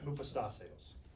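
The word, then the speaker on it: ὑποστάσεως: Okay, yeah, hupastaseos. Yep, or hupastaseos if you want to be used. But it just, you know, it's hard to pronounce it that way. And probably in ancient Greek, it was something more along the lines of, you know, hypostaseos. Upastaseos. That's probably closer to what it was really like.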